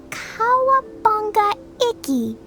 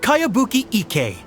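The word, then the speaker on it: Kayabuki Iki: By Kawabunga Iki. Yoimiya, this is a really strange name. Who's this Kawabunga? It's pronounced Kayabuki Ike.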